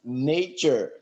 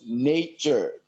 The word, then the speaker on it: nature: i would like to come back on some mispronunciations uh the very first one is nature not natural not natural but nature the a is pronounced as a in this word we say nature uh the next one is organization nation not